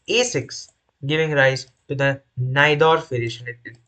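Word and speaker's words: Najdorf: here which is A6 giving rise to the naidorf varation it's pronounced as naidorf so n variation is like one of the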